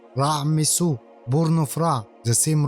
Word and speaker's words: Ramses: Take Ramses as example. It wasn't originally pronounced like that. It was pronounced raisu born of ra the